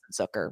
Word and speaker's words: Zucker: So for me, I think that's where we lost Jason Zucker. Rhymes with hooker.